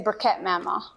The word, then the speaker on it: Bereket Moma: Mamo, did I say it right? Yes. Say it for us. You can say Bereket Mama.